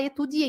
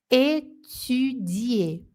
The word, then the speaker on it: étudier: É o I com boca de U, é o biquinho. Não é etu, não, hein? Não pode falar etudier.